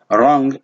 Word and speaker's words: wrong: last b is silent wrong definitely you you cannot include the w there and then the last